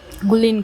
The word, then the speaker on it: Gurleen: Gurleen. Yeah, so you're supposed to pronounce the R and the L together.